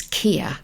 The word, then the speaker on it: Keir: in London and it's Kia not Keith some people Keith his name's KIA KIA like here rhymes with here but it's not spelled like that Angela is his number